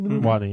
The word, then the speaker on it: Watney: Do they pronounce it Wattney? Watney. Yeah. Okay. Um and and actually they always pronounce it Wattney.